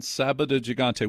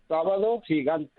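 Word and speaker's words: Sábado Gigante: Murray Kretschmer goes to South America, puts on Sabado Gigante. Would you pronounce it again cuz of course you pronounced it correctly and I did not. Say that again. Sabado Gigante.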